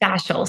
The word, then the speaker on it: fascial: or fascial how do you say that yes fasal so it's cranial fascial therapy and a lot